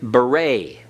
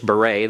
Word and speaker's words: beret: wears a beret well that e t at the end the t is silent and that e is pronounced and long a it's like the the a like in the uh Spanish senor the a sound uh that's the two